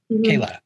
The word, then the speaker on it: Kayla: it's colin um and forgive me if i'm pronouncing is it is it kayla yep kayla yeah colin and kayla um so i i